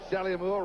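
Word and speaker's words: Saleaumua: 97 two fumble recovers salimua came to his chest in the locker room first he said here's how i pronounce my name sally moore run it all together he said mother is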